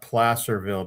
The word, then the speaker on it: Placerville: And for the people in California, we pronounce that Placerville because Placer has something to do with gold the gold rush.